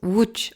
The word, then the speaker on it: Łódź: Ça se prononce Łódź en polonais.